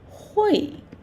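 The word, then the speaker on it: 会: So, how to pronounce it? Hui. He. U A. Hui.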